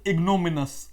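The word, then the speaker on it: ignominious: Now this word need to be pronounced as इग्नोमिनस। हाउ to pronounce? इग्नोमिनस। कैसे pronunciation होगा इसका? इग्नोमिनस इसको बोलेंगे।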